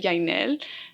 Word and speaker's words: Jaynelle: I think growing up, people really struggled to say Jaynelle. And so I kind of accommodated it to make it easier for people. But I actually do prefer the Spanish pronunciation that you just did, Jaynelle.